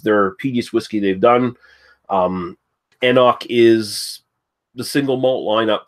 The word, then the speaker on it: anCnoc: It's just anCnoc. You basically just you just don't pronounce the C in the middle there.